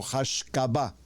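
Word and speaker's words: השקפה: La palabra se llama hashcaba, la estoy pronunciando en español, hashcaba. Bueno, así se pronuncia mejor en hebreo, hashcabá.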